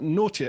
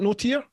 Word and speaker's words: Notier: and this week we have tim and marissa naughty it's not here isn't note here that's correct that's how you pronounce it yeah uh tim and marissa notia